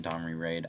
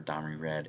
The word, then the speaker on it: Domri Rad: Some may pronounce him Domri Raid. I prefer Domri Rad. It sounds more legit, like he's pretty rad.